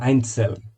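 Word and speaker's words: einzeln: আইনসেল individual বা পৃথকভাবে, এখানে সেটটা হালকা তয়ের উচ্চারণ হবে আইনসেল, পৃথক বা একক, একজন একজন করে যেটা।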